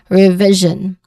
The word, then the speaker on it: revision: So you uh the second the second syllable here is the stress syllable. So you say it as revision, excuse me, revision.